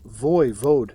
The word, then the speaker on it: voivode: And the ruler of a place like Wallachia, called a voivode, pronounced voivode, which basically means prince